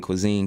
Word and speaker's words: Kwezen: Yeah, Facebook is under the food name High Vibe Cuisine, and it's spelled like the phonetic spelling. So it's High Vibe and then Cuisine, KWEZEN.